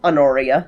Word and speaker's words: Honoria: Anoria.